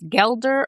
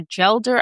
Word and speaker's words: gelder: Now, I had to look up the pronunciation cuz I wasn't sure if it was geler or jelder.